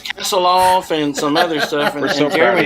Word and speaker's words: Kasilof: night we camped uh kasilof i think i finally said it right for the whole week it was it was castle off and some other stuff